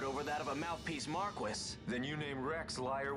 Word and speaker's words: Marquis: they fooled even the Marquis what if a judge killed the that's not how you pronounce that it's the Marque that would explain everything